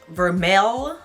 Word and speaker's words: vermeil: It is spelled VERMEIL, but pronounced vermeil.